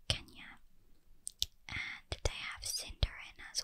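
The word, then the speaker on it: Quenya: the rings they have i believe it's konya are pronounced kenya and they have cindering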